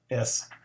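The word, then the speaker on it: στοργή: S-T-O-R-G-E, if you transliterate it, but the E on the end is pronounced like an A-Y, so storge.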